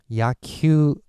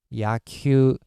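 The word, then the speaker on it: やきゅう: But when we pronounce it, actually, we almost pronounce it like a bar on top. So yaku, yaku, which means baseball.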